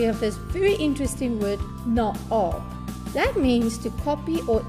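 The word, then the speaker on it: na-aap: Now you notice naab has 3 A's next to each other. And that is so confusing because how do you pronounce this word? Also, the preposition on top in Afrikaans is bo-op. What do? We place a hyphen between na and ab, thereby separating these vowels, and it will read easier and you'll be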